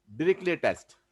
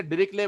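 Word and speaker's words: Dirichlet: इसे डिरिक्ले बोलते हैं। डिरिक्ले टी है ना, जो अंतिम टी साइलेंट है, डिरिक्लेट नहीं बोलते। प्रोनाउंसिएशन देखिए जो मैं बोल रहा हूँ, डिरिक्ले। जी सर, डिरिक्ले, हाँ टी है ना, टी साइलेंट है, डिरिक्ले टेस्ट।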